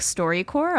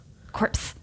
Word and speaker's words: StoryCorps: They are at StoryCorps, and that's spelled CORPS. Indeed. Not CORE. They're like a corporation of stories. Yes. StoryCorps. Corpse. As I like to refer to it. But not like a dead story corpse.